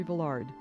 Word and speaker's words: Villard: "It does not," he said, "rhyme with Willard, and the D is not pronounced. The accent is on the last syllable. It's Villar."